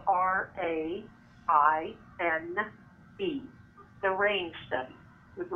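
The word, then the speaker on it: Raine: urge your listeners to please look at the RAIN study. It's spelled R-A-I-N-E.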